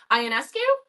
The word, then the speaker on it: Ionescu: Ionescu. Is that how you pronounce it? Ionescu works.